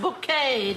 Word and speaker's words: Bucket: But my mum, bless her, is far more lovable than that awful bucket woman. Pronounced bouquet, dear.